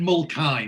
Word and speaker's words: Mulcahy: continuity error and and he actually pronounces the name correctly he says it's brendan mulkai now so before he said